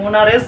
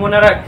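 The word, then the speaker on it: monarch: ক এর মত হয় সি এইচ আছে কিন্তু উচ্চারণটা কেমন হচ্ছে ক এর মত হচ্ছে যেমন যেমন দেখো এটা কি আছে বলতো এটা হচ্ছে মনারেস যদি উচ্চারণ করলে হবে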